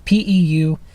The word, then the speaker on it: Peukert: So the only thing that affects what I just said is something called the Puker Effect. I never saw a pronunciation, but it's Peukert.